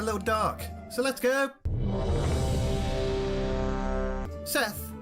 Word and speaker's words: Sethe: dark so let's go seth is probably actually pronounced seath or seath but i'm going to call him seth anyway seth had become